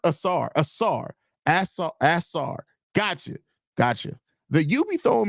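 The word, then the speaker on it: Ausar: It's pronounced Asar.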